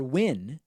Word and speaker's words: Nguyen: Johnny Nguyen, or Win, sends a $6 super chat, the high super chat of the evening.